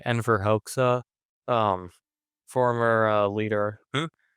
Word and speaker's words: Enver Hoxha: And then read after that Euro Communism is Anti Communism by, not sure exactly how you pronounce his name, Enver Hoxha, um, former leader. Enver Hoxha.